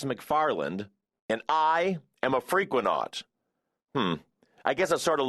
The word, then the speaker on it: Frequenaut: It's pronounced freak, when, not, and it's based on the word frequency. The not part is the same as an astronaut, even though I don't really know what not means.